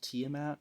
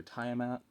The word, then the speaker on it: Tiamat: And I came across Tiamat or Tiamat. I hear it pronounced both ways. I prefer Tiamat.